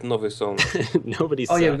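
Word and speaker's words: Nowy Sącz: Can you transfer Novi sucks to me? I don't know why you got it. Who sucks? Nowy Sąd. It's pronounced Nowy Sąd.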